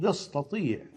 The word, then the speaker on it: يستطيع: بلاد الشام، أتات وتياب، غير أنها عند كل العرب وفي الفصحى تصبح فخمة كالطاء إذا جاورت الطاء فيستطيع، تنطق يستطيع.